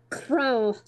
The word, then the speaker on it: Krow: You pronounce the name like as if you say how. How are you? Except it's like Krow.